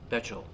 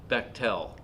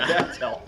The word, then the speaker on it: Bechtel: Bechtel. Did I say it right? No, Bechtel. no. it rhymes with rectal. You'll never get it wrong again. Rectal. Bechtel.